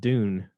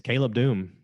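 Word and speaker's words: Caleb Dume: doom and i was like oh i've been pronouncing it dune because i thought it was like cara dune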